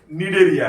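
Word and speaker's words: Cnidaria: उसकी spelling C से शुरू है लेकिन प्रोनाउंसिएशन निडेरिया है उसका।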